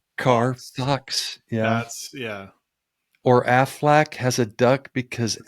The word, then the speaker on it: Aflac: Or Aflac has a duck because That sounds like Aflac rhymes with quack.